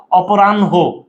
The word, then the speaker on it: অপরাহ্ন: তো প্রিয় শিক্ষার্থী বন্ধু এটার উচ্চারণ কিভাবে বলো, লিখতে যেটা আগে বলতে সেটা পরে চলে যাবে, মানে এই যে ভাইয়া